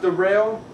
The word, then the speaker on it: Daryl: It's spelled like Daryl, but it's pronounced Darrell.